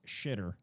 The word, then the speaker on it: Twixor: No, dude, it's shitter because XI in I believe it's Chinese is pronounced she, so it's shitter. Just replace the TW with an X and then you get shitter.